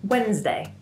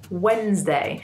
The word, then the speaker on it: Wednesday: So it sounds like there's a Z in there too. Wednesday. Wednesday. Day. So we've taken this D-N-E-S in the middle of the word and we've made it a lot easier to say.